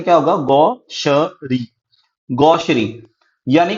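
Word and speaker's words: gaucherie: देखो इसकी प्रोनाउंसिएशन क्या होगा, गौशरी।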